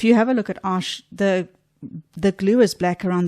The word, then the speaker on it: Arches: Some people will call this arches, but it's actually pronounced arche.